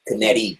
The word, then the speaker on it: Canetti: So Eric Canette. I don't know who that is. Canetti. That's how it's pronounced.